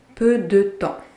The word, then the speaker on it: peu de temps: And yes, you're hearing it right. The P and S are silent. Peu de temps.